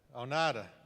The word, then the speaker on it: Oneida: Oneida, how do you pronounce it? Oneida.